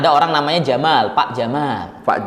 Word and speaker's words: Jamal: Pak Jamal. Itu seharusnya bacanya panjang. Jadi kalau Jamal. nah, seharusnya seperti itu. Jadi kalau kita hanya ngomong, "Ya, Pak Jamal." Kalau Iya. didengar orang-orang Arab, wah itu dikira unta nanti.